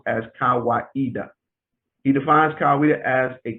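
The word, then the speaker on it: Kawaida: kiswahili word meaning tradition and reason it is pronounced as kawaiida he defines kaweda as a communitarian african philosophy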